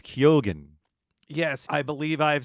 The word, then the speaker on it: Keoghan: I think I was saying Keegan for the longest time, but it's Keoghan.